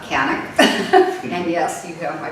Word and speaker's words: Kanuck: Canick, M-A-R-L-E-N-E, pronounced. Canick, K-A-N-U-C-K, not Canuck, Canick.